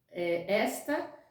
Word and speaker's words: esta: Até a pronúncia é diferente. Existe a pronúncia está, que é o verbo, e existe esta, que é o pronome demonstrativo. Também falei de tempo. Esta dá ideia de tempo presente.